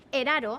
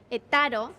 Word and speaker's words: Eth Haro: Eraro se pronuncia segons el lloc, et taro, eraro, et xar.